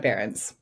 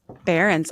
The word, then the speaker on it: Behrens: Deanna Behrens. Behrens, I said it right.